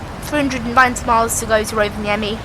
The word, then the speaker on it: Rovaniemi: Rovaniemi. Rovaniemi.